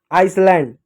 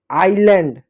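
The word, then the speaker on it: island: Honest honest नहीं आइसलैंड गलत होता है। आइलैंड आइलैंड होता है।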